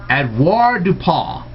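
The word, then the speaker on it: avoirdupois: Well, let me give you, and it's actually not du pas, it is du pas. Avoir du pas. That's how it's really pronounced.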